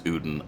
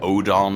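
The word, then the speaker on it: Odeon: But, as far as I know, it's Ouden. I know it looks like it says like Odon or something like that or Odon or, you know, whatever, but Odin, as far as I know, is how it's said.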